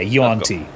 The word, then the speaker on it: Yuan-ti: How do you pronounce it? Yeah, Yuan Ti.